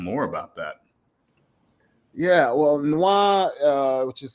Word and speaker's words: Nwa: Yeah, well, Noir, which is spelled NWA, it means black in Haitian Creole.